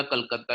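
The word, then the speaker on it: Calcutta: कैलकटा या कलकत्ता, इसको different तरीके से प्रोनाउंस किया जाता है करंटली, कैलकटा और कलकत्ता।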